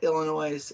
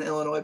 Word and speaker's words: Illinois: like when people say Illinois and Illinois people get upset because the S is silent I always say I'm